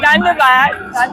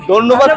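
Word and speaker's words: ধন্যবাদ: I know Dhanbad. Is that how you say it? No, thank you. Dhanbad. Thank you. So thank you. Dhanyabad to you as well for your precious time.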